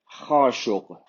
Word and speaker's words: Khashoggi: So the pronunciation of this in Arabic is Khashogg. Khashogg. The KH is a Kh. The GH is a G. That's quite difficult for Westerners to pronounce. It's G, G, G. It comes from the throat. It's a bit like French R, but it's a single sound, so it's not continuous.